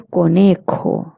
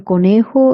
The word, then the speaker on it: conejo: And in conejo, it's a J, so you have to pronounce it k, conejo. Now we're going to look